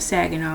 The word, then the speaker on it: Saginaw: Pronounced like LA, like the city. I'm not from there, but repping Saginaw, Michigan, not Saginaw, Texas.